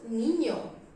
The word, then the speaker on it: niño: This letter sounds from my nose and the sound is just here. Ñ. I am exaggerating the sound ñ because I am pronouncing now, but normally you will feel the sound from here, from this part of your nose.